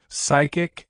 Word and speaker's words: psychic: you don't say p the p in psychologist psychic and psychiatrist is silent so it's just SI sound not PS correct pronunciation psychologist example three